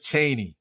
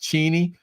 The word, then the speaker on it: Cheney: Everybody says Cheney for her name, but it's actually pronounced Cheney.